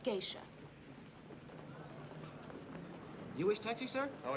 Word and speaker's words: geisha: Now, all you need to remember is that the food is good, the nights are warm, and it's pronounced geisha.